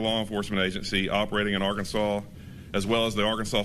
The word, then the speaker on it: Arkansas: ] is Kansas pronounced canas but Arkansas is pronounced Arkansas makes zero sense I don't know those Federal